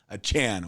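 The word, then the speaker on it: Achane: I'm going to say his name as Devon a chain achan achan our producer here Jensen he he knows how to pronounce his names and he's telling me it's uh Devon achan okay is that right is that right Jensen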